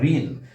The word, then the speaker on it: ঋণ: যেমন আমরা ঋণ, ঋণ বানানে আমরা রি লিখলেও এর উচ্চারণটা হবে রয় রসিকের রি, রি রি, রয় রসিকের রি।